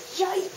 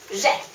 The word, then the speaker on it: j'ai: write it like this: J'AI - The pronunciation of ai is like ei in eight. And you buzz on the j. j'ai = You should have